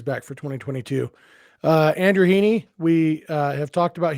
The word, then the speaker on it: Heaney: dodgers are going after hiney and by the way i looked up it is heaney so uh i i